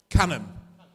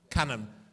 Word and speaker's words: Cannon: Is it Canaan or Cannon or how do you pronounce it? I couldn't be bothered asking you earlier on. I wasn't invested. What? Cannon. Cannon.